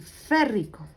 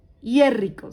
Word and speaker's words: férrico: les iba a decir férrico. ¿Listo? Óxido férrico. ¿De dónde adquiere este nombre? Del mismo elemento. ¿Listo? No se dice hierrico, se dice férrico.